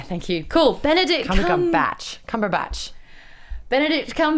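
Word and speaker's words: Cumberbatch: __ ] yeah thank you cool Benedict batch cumber batch Benedict batch visits Star Wars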